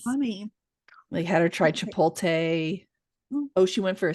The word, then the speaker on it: Chipotle: Because it's Chipotle.